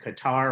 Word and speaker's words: Qatar: stuff that's going on Qatar or Cutter or wherever you want to pronounce the queue but the Boys of